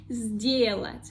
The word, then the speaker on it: сделать: Here we see the letter s, that is voiceless, and second one, d, is voiced. So the first one, voiceless s, become the sound z, voiced, because the second one also voiced. So we have two voiced consonants. Сделать, сделать, сделать.